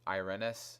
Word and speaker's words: Irenes: And there's like other characters like basically who I ended up using was, I was using Irenes. That's how you pronounce her name.